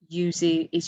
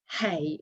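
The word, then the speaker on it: hay: Like we never say hey if we're saying there is or there are. Do you remember that word H-A-Y? We always say I. We don't pronounce the H.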